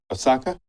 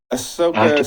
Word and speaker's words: Ahsoka: Osaka? Is it Ahsoka? For example, Star Wars again? Ahsoka, yeah.